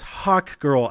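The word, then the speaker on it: Hawkgirl: It's Hawk Girl. I feel like I'm saying hot and not hawk whenever I know I'm saying hawk, but I'm hearing my own voice.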